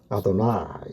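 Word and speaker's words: אֲדֹנָי: 글자를 만나면 제가 말씀드렸듯이 나이라고 불렀습니다 아도나이 a 발음은 아도나이 이죠 아도나이이 모음을 그대로 여기에 써 붙인 겁니다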